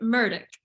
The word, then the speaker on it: Murdaugh: I've met this guy his name is like totally not how it's spelled and is it Alex is it Alec e-l-l-i-c-k I keep saying that I'm like yeah it's Alec murdick and I was like